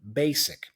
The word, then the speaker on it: basic: explain to me that usually in English nouns and adjectives that have the letter s are pronounced with an S sound so the word basic is an adjective so the S there has the S sound basic now words in English